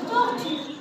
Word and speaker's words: tortue: Non, c'est le E. On a prononcé le E. C'est écrit, mais on ne l'a pas prononcé.